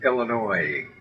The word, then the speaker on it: Illinois: Illinois. Yeah. S is silent. And the O-I is a Y.